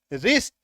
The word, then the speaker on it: wrist: और इसके तुरंत बाद आर आ जाए तो ऐसे शब्दों में हम डब्ल्यू का उच्चारण नहीं करेंगे। क्या पढ़ेंगे? RIST। क्या बच गया? RIST, रिस्ट, कलाई।